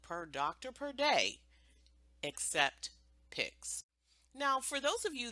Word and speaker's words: PICS: Except with a pix.